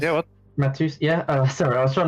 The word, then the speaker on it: Matheus: And Matheus, is that how you pronounce it correct? Matthews. Yeah, what? Matheus, yeah.